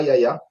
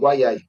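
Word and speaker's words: Yahya: Apparemment, c'est pas Yaya, c'est Mhm. Wayai.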